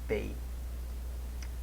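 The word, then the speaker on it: פא: Que é a 17ª letra do alfabeto hebraico, chamado de Pei. Rima com feio, né? E tem um som de P.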